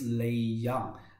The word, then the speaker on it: Lei Jiang: himself please hi hello everyone my name is lee young in chinese is a little bit a little bit difficult to pronounce um i am i'm working in germany